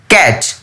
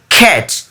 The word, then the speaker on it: cat: আসলে আমরা শুরু থেকেই ছোট থেকে আমরা পড়েছি CAT, ক্যাট। না, এটা ভুল উচ্চারণ। এটার উচ্চারণটা হবে CAT, খ্যাট।